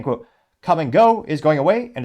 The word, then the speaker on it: Kum & Go: bit we can see what used to be the iconic come and go logo and it is spelled KU M and go and the bottom